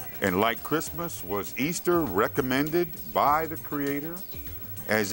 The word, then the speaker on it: Ishtar: The name Ishtar, spelled I-S-H-T-A-R, pronounced Easter, literally was the name of the pagan virgin goddess of spring.